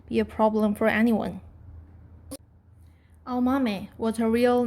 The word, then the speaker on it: Aomame: for green peas, and pronounced with the same 4 syllables, Aomame.